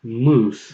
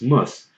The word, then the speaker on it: Muslim: was muss was muss again it's not moose because what happens sometimes is what I'm doing this thing somebody when I'm trying to get a fellow American friend of mine from going from west to mus he ends up going from was too loose and it's like no no no no it's not loose it's must everything is constant everything is constant the only thing that changes is the first letter everything else is constant